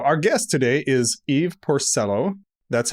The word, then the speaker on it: Porcello: or Canada so our guest today is Eve Porcello that's how you told me to pronounce it so that's how I'm pronouncing it